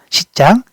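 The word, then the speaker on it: 西藏: 자, 우리가 우리가 티베트라는 말을 중국어로 이제 발음할 때는 시장이라고 말을 해요. 시장 자치구.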